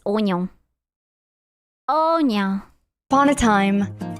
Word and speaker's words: oignon: It's oignon.